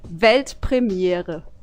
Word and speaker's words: Weltpremiere: It's actually Weltpremiere. Pretty similar, right?